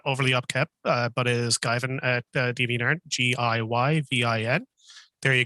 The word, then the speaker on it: Giyvin: The only major presence I have online would be my DeviantArt, which it's not overly upkept, but is Guyvin at DeviantArt, GIYVIN.